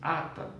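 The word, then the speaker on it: חטא: O seu equivalente verbal chata pronuncia-se ata, com H, aspirado, que literalmente significa errar o alvo.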